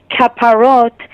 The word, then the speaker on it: kaparot: pronunciation of the word kaparot is the Hebrew pronunciation um but you know